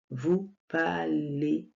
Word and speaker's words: parlez: prononce pas le S et vous parler on prononce le la terminaison qui est le E Z et ça donne le son et vous parlez voilà donc les gars